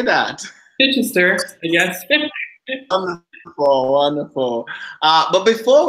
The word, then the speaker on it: Chichester: Chichester, yes.